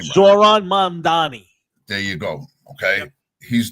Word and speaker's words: Mamdani: Yeah, Mammadam is whatever the fuck his name is. I don't even know how to say his name. Zoran Mamdani.